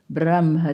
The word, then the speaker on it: Brahma: so that word brahma it is written brahma that is the word but our traditional pronunciation is switching the her and the ma brahma to keep it soft otherwise it becomes a harsh sound more easily so brahma it is traditional brahma varino and here